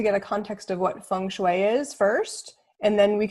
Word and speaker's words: Feng Shui: Because today's topic is going to be around Feng Shui.